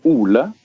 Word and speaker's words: Ole: I pronounce it Ole. Is that proper or? In Norwegian, we call it Ole, but Ole is fine. Okay. Ole Magnus is the correct pronunciation, actually.